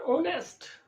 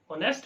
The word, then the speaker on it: honest: But N honest, honest में भी दोनों केसेस में जो है H है साइलेंट है.